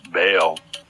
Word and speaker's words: Baal: In one of my recent videos, I mentioned that the Hebrew word Baal, sometimes pronounced Baal, is used for God.